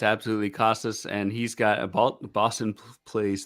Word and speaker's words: Casas: And Triston Casas, or Cases, I always mispronounce it, got called up. Casas, okay.